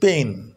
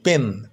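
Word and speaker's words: pain: প এন এ ন তাহলে উচ্চারণটা হবে পেইন পেইন দেখো আমরা সাধারণভাবে বলি পেন পি এ আই এন পেন কিন্তু একটু যদি এরপর হ্রস্বের মত উচ্চারণ করো তাহলে উচ্চারণটা আরো একিউরেট হবে আরো সঠিক হবে পেইন অনেকে আবার পুরো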